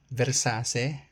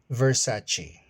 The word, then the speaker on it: Versace: Luxer brand pronunciation Versace. No, it's Versace.